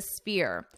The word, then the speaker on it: Sphere: First, I'll read the headline, The Sphere, Las Vegas's multi-billion dollar entertainment venue. Let's talk about the pronunciation here. Notice that this has a F sound. So this PH is pronounced as F.